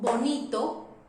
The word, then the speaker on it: bonito: If I say, for example, bonito, but if I say vaca, it's exactly the same sound.